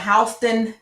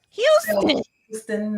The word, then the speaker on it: Houston: Let's not forget Houston County. Houston, no ma'am. It's Houston.